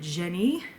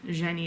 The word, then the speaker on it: jinn: In the midst, there's the audiobook narrator pronounces it Jenny, a Jen type of